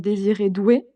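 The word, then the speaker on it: Désiré Doué: C'est normalement son nom il se il se prononce désir et doué.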